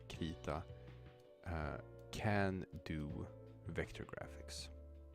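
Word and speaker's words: Krita: things about is called K I am pronouncing it K because I'm pretty sure that this is Swedish I would guess that most people who found this software call it like crita or something you probably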